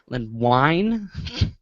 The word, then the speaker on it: Wein: Len Wein. Wine.